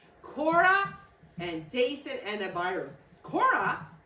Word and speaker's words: Korah: it's it's not spelled the way that Judah spell it's a different kind it's a boy Kora Kora and Dayan and Abu Kora he was one